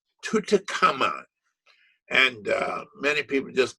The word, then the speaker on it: Tutankhamun: Notice the way we pronounce his name, Tutankhamun.